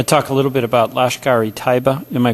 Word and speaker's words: Lashkar-e-Taiba: I want to talk a little bit about Lashkar-e-Taiba. Am I pronouncing that right?